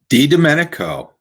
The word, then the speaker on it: DiDomenico: let's bring in well good evening mr dominico is that would that be pronounced correctly d domenico okay sorry for butchering your name there that's